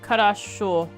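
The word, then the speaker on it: хорошо: O's are pronounced like A's if they aren't stressed vowel. So it is a bit like harasho.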